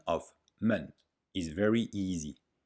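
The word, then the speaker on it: 们: hao the pronunciation of men is very easy it is a neutral tone in mandarin chinese man is used with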